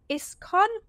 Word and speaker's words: ISKCON: So tell us a bit about your involvement with the Mechanicsburg Art Center and ISKCON. Yes, that's right. I pronounce that right?